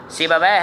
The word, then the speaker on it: سیبویہ: ان کے درست نہیں ہوتے ناموں کے، یہ تلفظ میں بیان کر رہا ہوں، اس کو آپ ذہن میں رکھیے گا۔ سیبویہ ہے، پھر خلیل ہے، یونس ہے اور اخفش